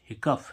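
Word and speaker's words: hiccough: है ठीक है अब एच I double CO Yeezy H हिकफ हिकफ मीस होती है हिच की यहां पर भी यजी एच का उच्चारण फ निकला अब जैसे इसमें देखें आर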